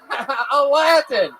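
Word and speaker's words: Alatin: This is Yeah, it's spelled A-L A T I N. Aladdin.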